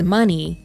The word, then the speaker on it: Muni: money long she says the name mewni which she pronounces as money means to think deeply